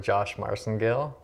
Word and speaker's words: Josh Marcengill: I'm here with Josh Marcengill. Did I say that right? Yeah, you did, actually. That's great. Right. I pronounced it right.